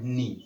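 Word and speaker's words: knee: ठीक है गाइस, तो ये आपका इसको क्या पढ़ा जाता है, नी।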